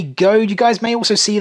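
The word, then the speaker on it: Goede: And then up top, we do have Mewtwo, signed by the voice actor from the first movie, Jay Good. Or it may actually be pronounced Jay Goad.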